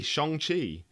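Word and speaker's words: Shang-Chi: We went to see Shang Chi. I'm so glad you pronounced it correctly.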